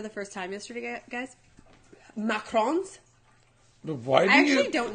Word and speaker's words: macaron: Macarons. Why do I actually don't know. Macarons? You're supposed to say it like that. It's like macaron, and macaroons. They're different macaroons.